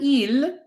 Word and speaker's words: ils: Now you might be wondering, why is there an il and why is there an elle? What the heck is the difference? Let me explain. Il, pay attention, we don't pronounce the S.